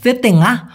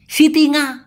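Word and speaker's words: setengah: Half অথবা অর্ধেককে Malaysian ভাষায় বলা হয় সেতেঙ্গা অথবা সেপারু। অনেকে এই সেতেঙ্গা এটাকে বলে ইস্তিঙ্গা, সিতিঙ্গা। আরে ভাই কেন? এটা সঠিক উচ্চারণ করেন, সেতেঙ্গা।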